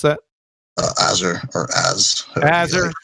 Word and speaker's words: Azurethi: How do you pronounce that? Azure or Az. Azure?